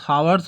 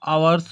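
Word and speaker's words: hours: एच यहाँ पे silent रहता है और इसका उच्चारण आ आता है। एन आवर्स, हावर्स नहीं पड़ता, आवर्स होता है, इसलिए आ हमारा वोवेल है, इसलिए हम एन का यूज कर लेंगे।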